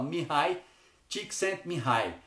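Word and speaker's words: Mihály Csíkszentmihályi: fui procurar na internet, porque escreve-se Mihaly, se a gente fosse ler de forma aportuguesada, mas se fala Mihai Csikszentmihalyi.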